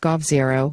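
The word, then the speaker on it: g0v: But what sets Plurality apart is Tang's tangible experience running large-scale, open-source, public, digital infrastructure projects like the G0 project pronounced Gov0, which created open-source and interactive alternatives of Taiwan's government websites, and V-Taiwan, which enabled citizens to petition for policies.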